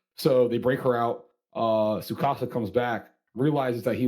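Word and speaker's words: Tsukasa: The big dude, Tukasa. Sukasa? Is it Sukasa? Yeah, the T is silent. Oh, okay, yeah, okay, yeah. Yeah, So Sukasa. Sukasa.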